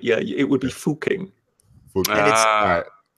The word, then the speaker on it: Fucking: How would you pronounce that? Yes, the first ranker got it pretty much right. Yeah, it would be Fucking.